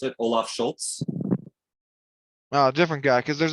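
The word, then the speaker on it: Scholz: That's at least how I pronounce it, Olaf Schultz.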